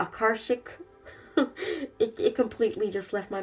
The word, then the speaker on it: Akashic: to say it wrong I want to say archaic and it's not archaic the Akashic it completely just left